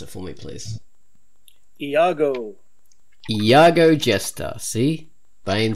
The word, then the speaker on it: Iago: fated fella this is a comic by famous pronounce it for me please Iago Iago gesture see Bane says it writes it's